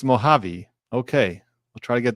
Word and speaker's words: Mojave: Mojave is pronounced Mojave.